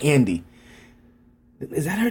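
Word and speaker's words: Anne D: name, like Ann D, like Ann, A-N-N-E, initial D, but that's not how she pronounced it. She just rolled all the words together, man, and it sounded like Andy.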